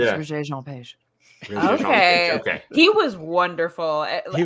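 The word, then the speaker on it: Regé-Jean Page: As a Bridgerton fan, it's Regé Jean Page.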